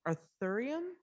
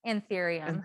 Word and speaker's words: Anthurium: Why do some, and I'm probably not going to pronounce this correctly, Arthurium? Anthurium.